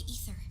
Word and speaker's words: Aether: The blight is a form of hazard caused by the ether. Ether. Their relationship is like lava to a volcano. Yeah. This one, the AE in Nordic, it's spelled like E. The relation is like lava.